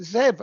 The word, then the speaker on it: Zeb: It's not Zebedee? It's not Zebedee, no. And then I made the mistake one day of saying, well, it's Zeb, like Deb.